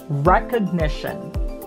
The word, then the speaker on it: recognition: Recognition. So the accent is on the recognition, nition. So that's where the accents are.